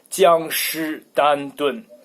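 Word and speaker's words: 江诗丹顿: 江诗丹顿. 江诗丹顿. Why it sounds a little bit weird? Because 僵尸 in Chinese sounds like zombie. So it's a zombie Constantin.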